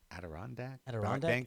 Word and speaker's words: Adirondack: nine uh at the adorat Inc uh Adirondack Adirondack Center Arena yeah I know um Adirondacks the